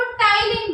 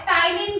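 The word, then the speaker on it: ptyalin: टाइलिन बोलते हैं। P silent होता है, टाइलिन भी बोला जाता है।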